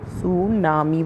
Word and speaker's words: tsunami: सुनामी में T silent होता है तो हम टी साइलेंट करके SU सुनामी बोलते हैं।